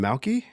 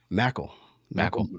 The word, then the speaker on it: Mackle: Malky? Did you say Malky? Mackle. Yeah. Mackle.